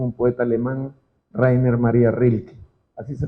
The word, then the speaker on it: Rilke: esto lo dijo un poeta alemán rainer maría rilke así se pronuncia para el poeta rilke que fue un